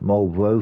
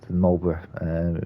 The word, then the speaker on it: Marlborough: You can when you're using ships like the Marlborough I say Marlborough, not Marlborough, for my American colleagues out there, trying to correct them because they don't seem to be able to pronounce that name.